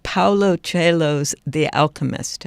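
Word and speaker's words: Coelho: are things like Paulo Cello's The Alchemist and cello is spelled c o e l h o in which the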